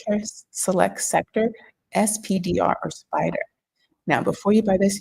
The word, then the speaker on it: SPDR: See the acron finance world is pronounced spider.